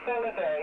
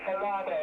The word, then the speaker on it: Falado: We say Falado. You've been saying Falado.